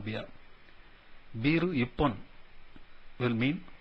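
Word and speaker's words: 一本: Ichi hon will be called ippon.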